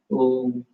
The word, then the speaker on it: Om: As you slowly connected with your deeper inner self, inhaling, exhaling, focused on the Ajna chakra, chant the mantra Om, A-U-M, Om. It's like 3-syllable. Om is a 3-syllable mantra.